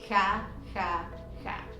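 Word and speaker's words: jajaja: version of this and it's pronounced ha ha ha let's move on to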